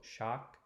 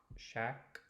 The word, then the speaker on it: chaque: There's a modified version. I've heard both, shock, shack, slightly different, but de chaque jour is the more conservative pronunciation that I try and stick to myself.